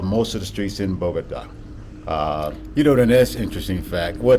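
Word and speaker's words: Bogotá: The way to say the name, is pronounced Bogota.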